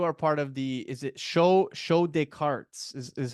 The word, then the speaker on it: Show de Cartes: I should also mention right off the hop that you are part of is it Show des Cartes is how you pronounce it, right?